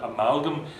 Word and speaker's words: amalgam: Similarly with the penultimate heavy closed pattern in an amalgam, it's more or less the same as amalga. You know, it's as though the M wasn't there. So amalgam is pretty much like the examples back over the page on like agenda, veranda. The final consonant may as well not be there.